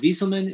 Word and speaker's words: Wieselman: But Sam, is it Wieselman? Is that how you pronounce it? Yep, that's right.